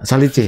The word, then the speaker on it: Salice: Terus lalu pas kita ke Italia dulu itu kan ada kacamata ya kayak ini Salis ya, tapi sudah Salis apa Salice? Ya, bacanya apa? Salice. Orang Italia soalnya.